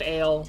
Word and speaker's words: Ayl: It's because it's it's pronounced ale. It's the easiest way for me to get that across to people.